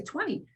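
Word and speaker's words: veinte: And you want to 20. make sure you pronounce it Mm.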